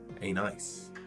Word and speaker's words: anise: Am I saying it right? Star Anus. Star Anus. Oh, Star Anise. Anise. Anise. Star Anise, of course.